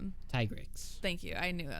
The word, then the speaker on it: Tigrex: And so just the fact, I mean, we need to get back in this weekend because we didn't defeat the T-Rex. Tigrex.